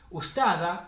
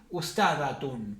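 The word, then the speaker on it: أستاذة: Entonces podemos leerlo, tenemos dos formas de leerlo, las dos formas son correctas. Ustada, sin leer la tamarbuta ni esto, ustada significa profesora, o podemos decir ustadatun, pronunciar todo. Si queremos leer esto ya pronunciamos la T.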